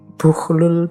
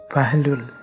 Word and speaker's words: Bahlul: ketika menemui seorang Sufi namanya bukhlul bin Amr ini ada yang membacanya bahlul ada yang membacanya jadi